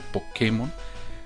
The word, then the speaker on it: Pokémon: Creo que lo voy a pronunciar Pokémon, ya que tiene el acento en la E.